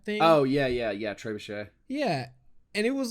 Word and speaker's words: trebuchet: history of a tr uh trivia trebuchet yeah is how you say it the little catapult type thing oh yeah yeah yeah trebuchet yeah and it was